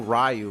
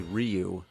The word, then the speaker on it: Ryu: like in Street Fighter we didn't know rayu was actually Ryu Blanca some people wait